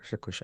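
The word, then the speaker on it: Strakosha: keeper whose name I can't pronounce or can't pronounce correctly stosa stosa stosa yeah that's correct sounds good but but but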